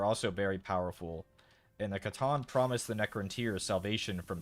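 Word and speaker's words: C'tan: I've heard it pronounced with a soft and hard C. I prefer Catan, like Settlers of Catan, but Satan I've also heard.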